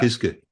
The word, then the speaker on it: Kiske: Kiske, with a short e, Kiske.